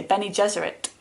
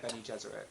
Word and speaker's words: Bene Gesserit: Benny Gesserit. Bene yeah, that's it, Gesserit. Bene Gesserit.